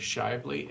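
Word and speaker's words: Shively: is my last name is shely sh Shi v l y uh I represent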